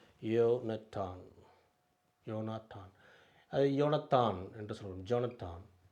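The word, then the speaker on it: יונתן: It, comets, ah, noon, Sofit noon, அப்புறம் இன், யோனட்டான், யோனட்டான், யோனாத்தான், அது யோனத்தான் என்று சொல்லுவோம், ஜோனத்தான்.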